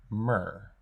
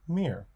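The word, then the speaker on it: мир: of the Russian word mer bravery Orbitz peace and space oh and I've been told that it's pronounced meer thank you for these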